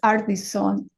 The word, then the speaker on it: Ardizzone: illuminated mine podcast so let me welcome adrone you can tell me if I got your name if I pronounced your name right it's AR Son thank you you say better than I do